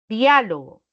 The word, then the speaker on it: diálogo: mismo que sucede si yo dijera por ejemplo diálogo no diálogo voy a separarlo de esta manera no puede pronunciarse obviamente de otra forma dialogo dialogó diálogo